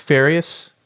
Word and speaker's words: Farias: Farias it's pronounced Farias correct excellent who played one of our principals